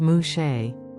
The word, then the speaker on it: muxe: society in wahaka Mexico muks pronounced mushe are individuals who are